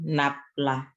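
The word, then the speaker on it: nabla: Operatornya bukan nafla ya, tapi operator del kita katakan nanti. Vektor nafla, cuma nafla itu membacanya.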